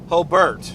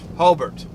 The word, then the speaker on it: Hobart: not because it's pronounced Hobart Hobart like the E not the a it's just a test